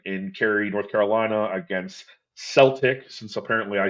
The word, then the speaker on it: Celtic: Uh, I, every British person or Irish person I've ever met has told me to say Celtic, so I don't know who the fuck that was that corrected me a couple weeks ago, but I'll say it right for you this time, I guess. Celtic.